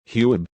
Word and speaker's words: Huib: Their 5-year-old son, Huib, pronounced Hybe, was in bed asleep.